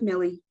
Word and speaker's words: Miley: you hey Ann um so it's pronounced like Millie Millie I just saw it weird um yes and we are ready